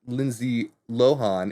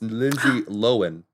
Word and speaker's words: Lindsay Lohan: So in this little short series, she came in and she said, oh, it's actually not pronounced Lindsay Lohan. It's pronounced Lindsay Lohan.